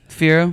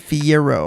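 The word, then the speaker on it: Fiyero: Now, do you want to get into Fiero? Well, Fiero, which is spelled with a Y, by the way. Fiero. Not Fiero. Fiero.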